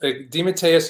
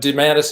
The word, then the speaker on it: DeMatteis: DeMATTEIS is, I've always say, is the classic Italian pronunciation, which I do prefer. But DeMATTEIS is the Americanized version that I grew up with.